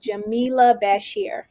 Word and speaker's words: Jamilah Bashir: her hi oh hello and my name is pronounced jamila bashir okay but jamila okay great so nice to